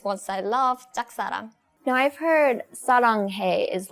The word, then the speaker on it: 짝사랑: It's 짝사랑. 짝사랑. Right. This the pronunciation of 짝 is not easy.